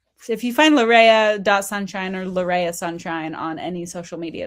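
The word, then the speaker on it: Larrea: The botanist will say it's Laria tridentata, but Larea is the way that my parents pronounced it, so that's the way I pronounce my name.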